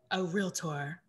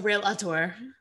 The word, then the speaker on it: realtor: So before I was a realtor, two syllables, a realtor, I was a wholesaler, and that's basically all pocket listings.